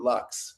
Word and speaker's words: Lux: say, to Odile Delore Lux. So, Uh, or Lou, I guess, as I should say, but I just say Lux in the brand name because it's easier than. is it Well, I guess maybe in French it's Lou, but no, Yeah, Lux, I yeah, think, Lux, certainly in English, you know. but yeah, I figure it's an American brand, so I'll just Americanize it, even though Right.